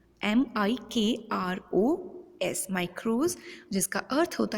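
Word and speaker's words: μικρός: Has been originated from a Greek word जिसका pronunciation था माइक्रोज, MIKROS, माइक्रोज, जिसका अर्थ होता है स्मॉल या सूक्ष्म।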